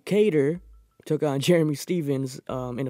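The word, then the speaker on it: Kattar: episode if you saw I kept pronouncing his name wrong apparently but I could have sworn I heard people calling him guitar so I was calling guitar our last episode but Calvin cater took on Jeremy Stephens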